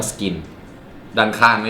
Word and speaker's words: SKYN: หน่อย ชื่อ รุ่น ว่า Skin นะ ฮะ skyn น่า จะ อ่าน ว่า Skin ด้าน ข้าง ไม่ มี